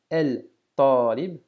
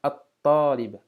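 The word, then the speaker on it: الطالب: el talib, mais bien at-talib, at-talib. Qu'est-ce qui se passe? Le lam de l'article n'est plus prononcé et on accentue, on double la prononciation du ta comme si on avait une shadda dessus.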